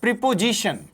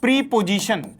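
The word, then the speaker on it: preposition: नाउ we have again next that is प्रीपजीिशन। इसको बोलते हैं प्रीपजीिशन।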